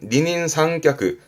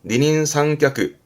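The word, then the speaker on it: 二人三脚: 한자로 보시면 이거 2인삼각 발음은 니닌상크 발음도예요. 니닌상크 그 2인삼각의 각자 다리 각자가이 한자예요.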